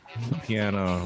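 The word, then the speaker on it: Piana: do this to me you actually say it like piano though yeah it's piano Rich piano okay all right get a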